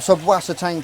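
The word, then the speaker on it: Subwassertang: I'm always going to say subwasatang. I say it how it's spelt. I know it's subwasatang or something like that in German, but it's just an old habit with me, and it's just the way it's spelt.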